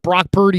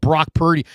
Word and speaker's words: Brock Purdy: And when he called Brock Purdy, it rhymes with turdy.